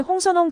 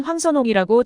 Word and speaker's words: 황선홍: 하지만 그는 이내 대한민국의 홍선홍 감독이라고 소개했는데요 실수를 했음에도 발음에 대한 양해나 설명이 없이 지나갔죠 그러나 황선홍 감독은 중국 진행자의 실수를 넘어가지 않고 인사에 앞서 일단 제 이름은 홍선홍이 아닌 황선홍이라고 정확하게 지적했습니다 중국 진행자의 입장에서 외국인의